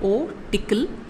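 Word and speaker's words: OTcl: have probably heard of this is spelled o tickle o stands for object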